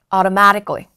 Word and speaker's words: automatically: Automatic 그니까 오토 하지 마시고요. Automatic automatically. 자, 이제 마지막으로 불규칙이 있어요.